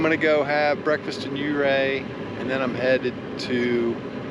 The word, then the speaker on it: Ouray: Okay, so just had a really good omelet in Ouray, and that is the correct way to pronounce it, Ouray, which means arrow in Indian.